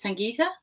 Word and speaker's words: Sangita: Uh my first name pronounced as Sangita and uh the switcher is not my last name.